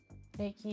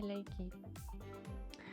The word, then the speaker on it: Reiki: Reiki est souvent appelé en France Reiki, ou en anglais, aux États-Unis, souvent Reiki. Mais encore une fois, au Japon, il n'y a pas cette prononciation de R à la française ou à l'américaine ou anglophone ou francophone. Donc, en son d'origine, c'est Reiki.